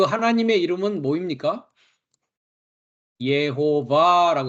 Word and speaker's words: 여호와: 그 하나님의 이름은 뭐입니까 예호바고 했습니다 이것은 이제 히브리어 어 발음인데 한글은 여호와라고 돼 있죠 그 여호와가 창조했다고 하는